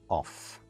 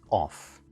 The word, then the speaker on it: of: Yes, the last sound is not F, it's V sound, as in voice. Most students pronounce it off, as in turn the light off. And of course, the only time we pronounce it off is in of course itself. In its other common combination, as in the importance of, for example, it is pronounced of.